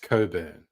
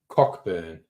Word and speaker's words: Cockburn: and woolies and yes that's almost always pronounced Coburn but cockburn is what it looks like oh my god there